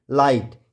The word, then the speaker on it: light: तो आपको पता है GHT में आया GH हमेशा साइलेंट होता है।